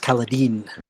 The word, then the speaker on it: Kaladin: his name is supposed to be pronounced Kaladin.